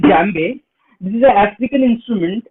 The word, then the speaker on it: djembe: So this thing today I have in my front, this is called djembe. This is an African instrument. We spell it as djembe, but the spelling is D-J-E-M-B-E.